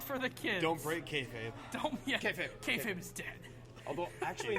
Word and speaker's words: kayfabe: And in order to keep it silent, on camera they say kayfabe, but they pronounce it kayfab.